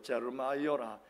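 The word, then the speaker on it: Jeremiah: 그래서 제 아들이 하고 있는 아주 코딱지만한 카페 이름도 그 예레미야 영어식 발음 그대로 제르마이어라 이렇게 지어 부른 겁니다.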